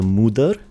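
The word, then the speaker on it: Moder: new mountain areas so I can find the Mudur, which is how you pronounce it.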